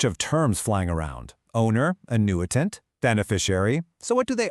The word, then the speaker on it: annuitant: So first up, let's meet the star of the show, the annuitant, and that's pronounced annuitant.